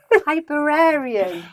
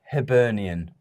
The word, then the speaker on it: Hibernian: name of the team yet I have herian hiber Arian hiber Arian hian hian I don't know I can't pronounce it Hibernian Hibernian well that's what I was going for